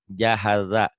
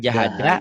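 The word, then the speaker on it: جهز: Jahaza. Bukan jahaja, Jahaza.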